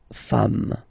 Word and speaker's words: femmes: at the end, and as we said, you don't pronounce it, so you get des femmes.